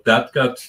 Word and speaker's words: DADGAD: Most of all, dadgad tuning, that's just the notes of the strings, D-A-D, G-A-D, and that's the tuning I play most of the time, at least.